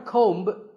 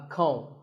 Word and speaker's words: comb: This is a comb. Not a comb, a comb.